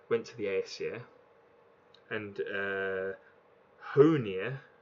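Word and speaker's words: Hœnir: to the Aesir and who near or high near as it's pronounced actually and Mamiya went to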